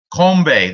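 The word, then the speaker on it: 건배: That's kombe. That's how you say it in Korean.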